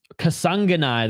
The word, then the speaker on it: Kasanganay: Kasanganay, that's how you say his name.